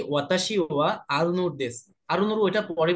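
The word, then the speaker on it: は: ওয়াতাশি মানে কি বলেন তো? আমি। আমি। ওয়া কিন্তু আমি এখানে না আই। পার্টিকেল। হ্যাঁ, এখানে হা হয়েছে কিন্তু এখানে ওয়া হিসেবে ব্যবহৃত হয়েছে ওয়া পার্টিকেল।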